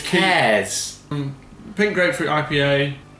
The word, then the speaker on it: Kees: How do you pronounce that? Pink. Kees. Kees. Brewredge. It's Kees.